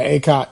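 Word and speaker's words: Akot: from Canada who reclassified, and I want to pronounce it right. Is it Acott? Is that Acott, Emmanuel? Yep. Yeah, Acott.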